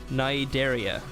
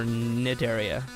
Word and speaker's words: Cnidaria: So this creature is called the, and I believe this is how you pronounce it, Cnidaria, or Cnidaria. Cnidaria, I'm not really sure.